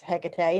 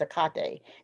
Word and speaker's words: Hecate: know with hecate there's there's two ways of pronouncing her name one is hecate and the other one is akate depending on whether it's roman or greek but um hecate i've